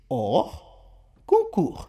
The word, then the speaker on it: hors concours: Expressão francesa hors concours pronuncia-se hors concours.